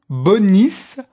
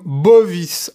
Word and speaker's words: bonis: Par exemple, à un moment, il y a la parole cum bonis ambula. Et certains prononcent tellement mal le latin qu'ils disent cum bovis ambula. C'est quoi? Bovis, c'est le bœuf.